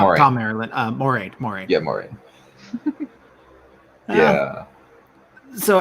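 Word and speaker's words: Thom Merrilin: Am I pronouncing the name right? Yes, Tom Marilyn. Oh, Not Moraine. Tom Marilyn.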